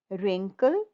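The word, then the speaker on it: wrinkle: यहाँ पे W silent है, डब्ल्यू नहीं बोलना। र इन रेन, कल, रिंकल, रिगल, राइट। इनको बोलना है डब्ल्यू डब्ल्यू, व रिंकल, व रिगल नहीं बोलना। डब्ल्यू is silent.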